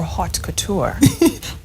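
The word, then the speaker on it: haute couture: call it um arid Couture arid Couture or hot Couture hot not OD in French it's just H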